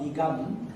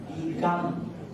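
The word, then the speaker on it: dīghaṃ: Digham. Not digam. Digham.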